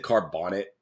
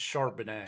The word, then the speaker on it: Charbonnet: pronounced it right uh I'm not gonna lie I said carbonet it's shanet sh charbonnet is what I said um shanet it's chardonay